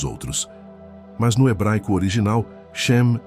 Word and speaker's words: Shem: O nome que define esta guerra pelo seu pertencimento pode finalmente ser pronunciado. A palavra é Shem.